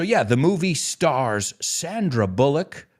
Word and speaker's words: Bullock: i'm out of here audi hey i'm always looking for that translation uh so yeah the movie stars sandra bullock no bulok in english it's bullock it's bullock sandra bullock